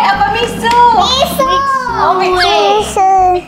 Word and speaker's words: Mixue: Bacanya mie kue apa misu?